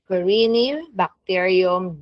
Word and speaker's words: Corynebacterium: So we have Corynebacterium, that's how you pronounce, Corynebacterium diphtheriae.